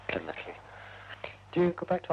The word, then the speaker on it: Llanelli: I got the pronunciation. Yes, double L. Llanelli.